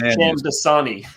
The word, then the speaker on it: Shamdasani: Shamdasani, like the water. So like fake Dasani water, Sham Dasani.